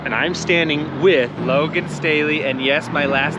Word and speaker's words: Staheli: Yes, Staley, not Staheli, not Staley, not Staheli, Staley.